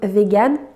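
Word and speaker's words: végane: végétariens dg tard yann en français il se prononce vegan et on met un accent sur le e et un e à la fin je voulais revenir rapidement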